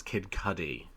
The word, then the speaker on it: Kid Cudi: You can buy a really expensive jacket or sweatshirt from Kid Cudi. But we talked about that last week. I learned at New York Comic Con it's Kid Cudi.